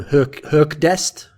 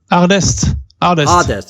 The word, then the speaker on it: HQRDEST: Herkdest? Is that it? What? Sorry? HQRDEST. Is it Herkdest? Hardest. Yeah. You just say it as an A, okay, right? So you took Hardest over, who obviously was in your previous team as well.